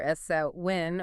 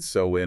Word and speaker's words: Samhain: Generally, it's pronounced either S-A-W-I-N or Sa-win. So-win or saw-win, got it.